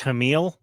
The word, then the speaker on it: Hamill: of Crime uh Mark Hamill oh it's pronounced Hamil actually so everybody's been saying it wrong forever Mark so is